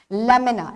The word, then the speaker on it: lamina: आपकी बुक्स में भी स्पेलिंग गलत है, LAMINA इज the correct spelling, ई नहीं आएगा यहाँ, lamina, एंड इट is pronounced as lamina.